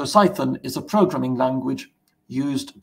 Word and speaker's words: Cython: be thinking it's uh did I mispronounce python or something no so psython is a programming language